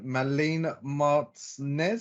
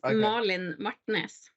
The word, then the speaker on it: Malin Martnes: right but it's just if you want to pronounce it in proper Norwegian it's Marlin Martinez I said Marlins I